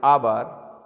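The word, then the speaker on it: hour: After this next question number 57, the birds like आवर honest hair begin with vowel sound. Friends, ये एच बना है, ये silent है आवर में, और ऑनेस्ट में एच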